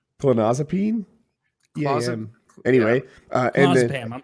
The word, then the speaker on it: clonazepam: And it turned out that time he was addicted to clozapam. Proper pronunciation. Thank you. Clonazepam.